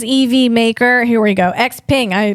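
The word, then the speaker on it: XPeng: Xping. I pronounced that right.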